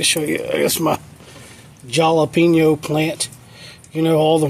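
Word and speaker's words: jalapeño: If you care, I'd like to show you, I guess, my jalapeno plant. You know, all the Mexicans, they're saying it wrong. Jalapeno, ain't no jalapeno. J starts with a ja.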